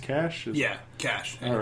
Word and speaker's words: Kasch: I guess I should have started before, but is it pronounced Kasch? Kasch. Yeah. All right, so Kasch.